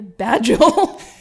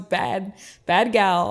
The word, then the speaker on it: Bad Gal: Some people say like, oh yeah, you're Bad Joel. And I'm like, no, it's Bad Gal.